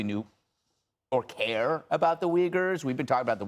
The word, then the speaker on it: Uyghur: just read about the U-Y-G-H-U-R. And he didn't know it. The way you pronounce it is not Uyghur, that it's Uyghur.